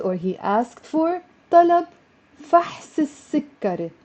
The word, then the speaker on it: فحص السكري: طلب فحص السكري. Notice how I pronounced it as one word with a liaison.